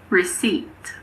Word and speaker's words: receipt: There are also a few other random words with silent Ps. For example, coup, cupboard, raspberry, receipt.